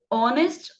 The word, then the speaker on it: honest: Honest hour. Então, eu vou colocar o E na frente, porque o H é mudo.